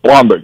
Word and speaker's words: Blomberg: What I had said, my name is Blomberg, so I always say my name is Blomberg. It's Blom like the bomb, not Bloom like the boom, because I go from being Catholic Irish German to Polish Jewish.